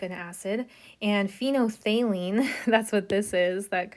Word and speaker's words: phenolphthalein: And phenolphthalein, that's what this is, that crazy word there. It's pronounced phenolphthalein.